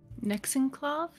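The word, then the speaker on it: Nexan'quav: Nexenclav? Is that the correct pronunciation, David? Nexenclav. Nexenclav. It's N-E-X-A-N. So, spoiler, apostrophe, Q-U-A-V.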